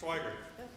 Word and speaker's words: Swigert: It's a one-act play directed by Swigert? Yes. Okay, I wasn't sure. Yes. I've always pronounced it that way. Is that correct? Swigert.